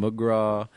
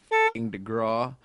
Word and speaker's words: DeGraw: People kept mispronouncing my name. They were calling me Gavin McGraw and Garvin DeSmalls, Kevin McCraw, and I was like, it's Gavin DeGraw, and so I just